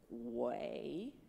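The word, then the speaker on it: 鬼: for go student Chinese it's a little tricky because we're gonna go down then we're gonna go up again it's like we're in that elevator alright and that you you're gonna say like it's a w okay it's like a walk sound alright so it's gonna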